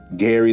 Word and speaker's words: Gary: And it's spelled like dairy, but it's Gary, which I think is pretty neat.